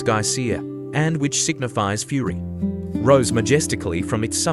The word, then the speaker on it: geyser: The geyser, a word the Icelanders pronounce ga and which signifies fury, rose majestically from its summit.